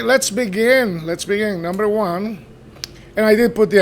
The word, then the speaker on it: au: So, au you pronounce it O. So, where does that come from? Well, it comes from in between parentheses a plus low like instead of saying